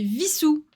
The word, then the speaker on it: Visou: Si si c'est vraiment visou là que vous me dites. Bah oui, je crois. Oui, c'est avec un Non mais oui. Non mais bien sûr. Prononce avec le V.